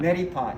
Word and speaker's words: neti pot: Neti pot? Neti pot, yeah.